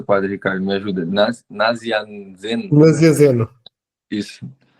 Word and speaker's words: Nazianzeno: Como é que é a pronúncia, Padre Ricardo? Me ajuda. Nazianzen. Nazianzeno.